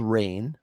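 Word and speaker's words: Reign: one of them's called rain it's spelled r-e-i-n-g like rain like i'm ruling over you and the other one's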